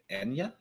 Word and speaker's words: Anya: it drives me nuts is it wait it's anya um i'm so used to hearing that pronounced wrong that when someone said it during